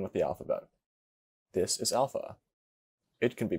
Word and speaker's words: alpha: This is alpha. It can be pronounced with two lengths, long and short. The long alpha is pronounced with an ah sound, like in father.